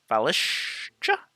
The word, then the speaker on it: Valishj: Priestess Valishja? I think the J is silent. Because Lady Vosh, I think, has a J at the end. It's silent, right? So Lady Valish.